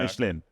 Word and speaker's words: Michelin: Michelin. Michelin. Yeah. Michelin. So, the reason we say it like that is cuz that's how you're meant to say it. It's a French word and a French company.